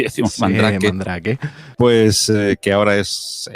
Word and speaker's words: Mandrake: Yo, mi primera instalación de Mandrake, Mandrake, creo que se pronuncia en francés, o Mandrake, como muchos pronuncian en inglés. Vamos a castellanizarlo y decimos Sí, Mandrake.